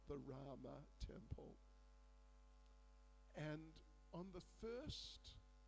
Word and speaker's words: Rama: degree, then, you know, many words which in Sanskrit end with an A, which is pronounced, but in Hindi, in many cases, they drop the A.